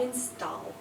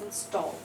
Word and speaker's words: install: so it's a header install right it's not install okay it's install so it's down almost because it's load down